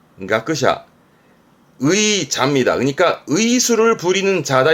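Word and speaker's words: 学者: 발음은 가크샤, 가크샤.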